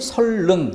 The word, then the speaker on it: 선릉: 자, 그래서 1번 같은 경우에 선릉, 그런데 그 표준 발음이 설릉, 리을로 소리가 나야 되는 것이죠.